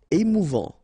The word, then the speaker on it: émouvant: Émouvant, final T not pronounced, A-N together, en, émouvant, émouvant.